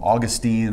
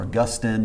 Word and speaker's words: Augustine: to sound really scholarly you put a short eye on that and it's Augustine you know that makes